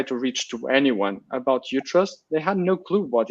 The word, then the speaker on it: Utrust: Like Utrust. First of all, how do you say it? It's like a U and then trust, but then if you say it in another language, it's going to be Utrust.